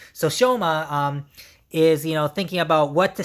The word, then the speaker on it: Shoma: That's how you pronounce his name. So Shoma is thinking about what to spend his last parts of money that he has left.